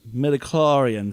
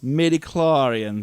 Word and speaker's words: midichlorians: midichlorians? They were middies. midichlorians.